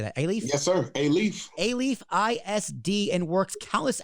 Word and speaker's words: Alief: Yes, sir, Alief.